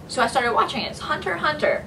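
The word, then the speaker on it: Hunter × Hunter: I started watching it Hunter Hunter but if you spell it out it's Hunter x Hunter adorable it follows the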